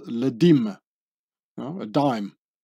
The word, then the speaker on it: dîme: this was called une dîme, withholding the French word dix for 10, becoming une dixième or une dîme, pronounced and written like the word dime.